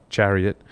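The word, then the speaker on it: CHERIoT: released Microsoft research has released a paper called Chariot that's Sherry iot pronounced Chariot sweet sweet rethinking security for low-cost embedded systems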